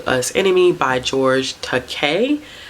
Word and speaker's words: Takei: us enemy by george takei because i think that's how you say his last name because in the graphic novel they were talking about his last name rhyming with okay so we took a